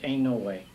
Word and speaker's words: Inouye: We're not going to get much comfort from the Democrats, Ervin, Montoya, Talmadge, and Inouye. That name's pronounced ain't no way.